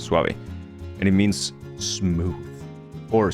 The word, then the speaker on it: suave: very sw you know you know that you know that suave means like it's a word in Spanish called suave that's how you pronounce it suave and it means smooth